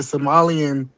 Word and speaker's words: Somali: So, but yeah, that's what I'm saying is when I study world history, it says the Somalian especially the northern Somalia.